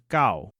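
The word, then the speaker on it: 九: The number 9 is gao. Let's repeat that. gao. Interestingly, dog is also called gao in Taiwanese. When we say 9 dogs, the tone of gao changes to make the phrase sound more natural.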